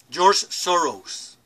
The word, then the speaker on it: George Soros: George Soros es la pronunciación correcta.